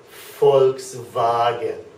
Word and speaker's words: Volkswagen: that whole thing would be pronounced FKS vagen folks vagen okay so an F sound and a v sound FKS vagen very good okay and let